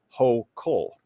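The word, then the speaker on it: Hochul: governor of new york kathy hoechel uh actually believe is pronounced ho cole yeah i'm gonna need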